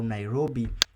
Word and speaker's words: Nairobi: of this training let me show you how nairobi is pronounced so i'm going to type nairobi then